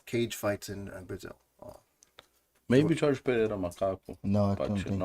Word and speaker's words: Jorge Pereira: Jorge Pereira.